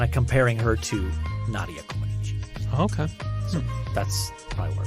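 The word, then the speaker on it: Comăneci: Comaneci. How many times did you have to hear that before we went on air? Did you know that's how it's pronounced?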